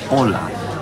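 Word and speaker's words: olá: you know Portuguese and to say hello it's Ola and in Spanish it's hola except for an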